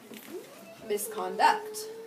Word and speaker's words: misconduct: Where am I moving the accent to? The last syllable. The very end? Misconduct. Let's try what last place can we try? Con. Okay, misconduct. Yes. There we go, misconduct.